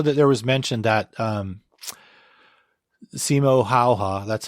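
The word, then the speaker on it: Simo Häyhä: Because I know that there was mention that Simo Hayha, that's how you pronounce it, I think.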